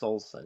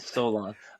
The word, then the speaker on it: Solson: I think that's pronounced Solson. Yeah, What did I Solson. say? Yeah, because they did Salsa. this. You said Solon.